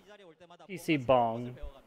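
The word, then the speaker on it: PC bang: guys know it's it's PC bong actually it really should be pronounced PC bong because if you're gonna pronounce in Korean you might as well just go all the way don't do it half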